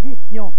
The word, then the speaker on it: vissions: Que nous vissions, regardez le S qui revient, double, pour qu'on prononce vision et non pas vision.